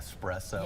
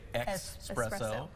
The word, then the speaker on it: espresso: And espresso, we were talking about how do you say espresso? Do you say x espresso or espresso? Espresso. Yes. With s and it's just a little shot of caffeine.